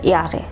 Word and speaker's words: Jahre: একটি বিষয় এখানে জার্মান ভাষায় জে কে ওয়াই উচ্চারণ করা হয়, অর্থাৎ আপনি ইয়ারে কে জাহারে দেখবেন ইংলিশে JAHRE, কিন্তু এটা জাহারে না, এটা হবে ইয়ারে, অর্থাৎ বছর, কত বছর।